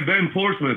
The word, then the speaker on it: Ben Portsmouth: His name is Ben Portsmouth. Is that how you pronounce it? Ben. Yeah, Ben Portsmouth.